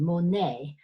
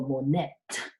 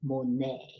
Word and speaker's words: Monet: M or n ET Monet because it's French you don't pronounce that T cheese silent so you don't go more net Hey you go Monet Hey so memorize that